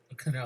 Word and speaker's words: Kno: Is it No or Kano? I think it's no. It's I think it's no. KNO, I think but it's no. It's No. So the company's, it's spelled KNO. I guess it's a play on knowledge, that word.